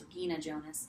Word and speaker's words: Regina Jonas: first ordained woman was Regina Jonas, or because she was German, probably pronounced Regina Jonas.